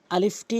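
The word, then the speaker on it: ألف: আলিফটি উচ্চারণ করার সময় খেয়াল রাখবেন উপরের দাঁতগুলো নিচের ঠোঁটে রেখে এভাবে আলিফ আলিফ হরফটি উচ্চারণ করবেন।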